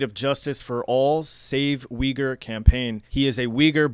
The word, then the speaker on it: Uyghur: So, before I continue this conversation, I just want to let people know, in English, we say Uyghur, but it is properly pronounced, and correct me if I'm wrong, Uyghur. Yeah, Uyghur, perfect.